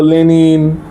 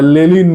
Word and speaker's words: লেনিন: পয়েন্টটাই ছিল চীন এইচল লেনিন কার্লমার্ক and everything বাঙালি বাঙালিরা তো লেনিন উচ্চারণ করে লেলিন উচ্চারণ করে বাঙালিদের এই শেক্সপিয়ার আর শেক্সপিয়ারকে শেক্সপিয়ার লেলিন লেনিনকে লেলিন হোভার তো এদের রেফারেন্স